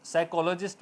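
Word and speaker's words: psychologist: इस तरह से कॉलेज तो साइकोलॉजिस्ट बोला जाएगा पी साइलेंट रहेगा नेक्स्ट फोर नंबर हमारे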